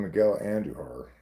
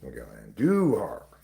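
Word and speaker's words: Andújar: Apparently, it's pronounced with the accent on the do. After years of calling him Miguel Anduhar, I've learned that that is not what his name is. It's Miguel Anduhar, right?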